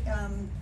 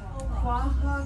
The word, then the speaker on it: Quahog: The Quahog, that you see that Quahog, pronounced Quahog or Quahog. There are two pronunciations for that.